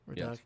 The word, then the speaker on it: Redux: Redux.